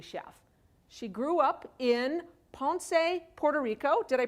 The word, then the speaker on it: Ponce: She grew up in Ponce, Puerto Rico. Did I pronounce that right?